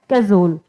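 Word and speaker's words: cajole: मैंने बोला कैजोल, इसका जो प्रोनाउंसिएशन है वो क्या है? कैजोल। काजोल नहीं है इसका प्रोनाउंसिएशन, हम सिर्फ रिलेट कर रहे हैं। इसका प्रोनाउंसिएशन है कैजोल।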